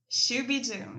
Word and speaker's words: Shoo Bee Doom: way everybody the name of the band is shuy Doom did I say it correctly shuy Doom yes yes definitely yeah I me yeah the